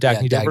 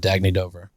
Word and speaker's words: Dagne Dover: Is that how you pronounce it? Dagne Dover? Dagne Dover.